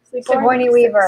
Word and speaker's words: Sigourney Weaver: character called Ripley, which the, how do you pronounce her name? Sigourney? Sigourney Weaver.